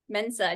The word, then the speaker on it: Mensah: excited to have ifbb Fitness Pro Michelle fua Mena did I say it right yes you did